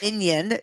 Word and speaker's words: minyan: You can think of it as, even though it's not spelled the same way, minyan, Jewish, is M-I-N-Y-A-N. But if you want to think of the little yellow guys from Despicable Me, that you get minions, you get lots of people together and pray.